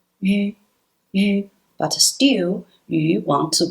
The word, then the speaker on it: yu: Well, in this syllable, yi is silent. We just pronounce yu sound. Yu, yu.